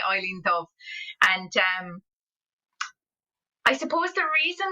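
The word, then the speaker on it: Eibhlín Dubh: And some people call her Evelyn, some people call her Eileen, and there's all different ways of pronouncing her name, you know, but like I would naturally say Eileen Dubh.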